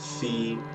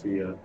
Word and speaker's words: Fe: a lot of people think that because they pronounced it fee in like the ea originals trailer uh which